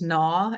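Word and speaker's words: gnaw: There's naw and gnarl and nat, right?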